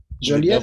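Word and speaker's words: Joliette: So now let's go back to Joliet. Is that how you pronounce it? Joliet, absolutely.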